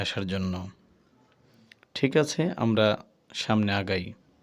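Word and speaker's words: ث: বলতেছি কিন্তু আসলে না এটা নরম হরফ নরম করেই বলতেছি এখানে শোনা যাচ্ছে হয়তো শক্ত খেয়াল করুন সা আপনি বারংবার পড়তে হবে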